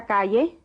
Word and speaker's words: calle: Y siga derecho por esa calle. The double L is pronounced like the Y in yes.